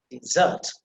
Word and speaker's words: dessert: it can't be possible so where we have to say dessert dessert dessert so you see is that is emphasized the second syllable and you see the